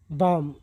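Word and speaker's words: bomb: कुछ एग्जांपल देखते हैं जैसे बम बम में बी एम के बाद ए रहा है बी साइलेंट है कम में बम के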